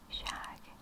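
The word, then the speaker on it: шаг: The Russian for step is spelled war and pronounced it looks like war. Shag.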